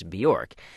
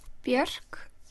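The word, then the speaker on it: Björk: Bjork. Okay. Guðmundsdóttir. Even though most English speakers say Bjork, it's not really Bjork. It's Bjork. Bjork. Yep. I usually say it rhymes with jerk.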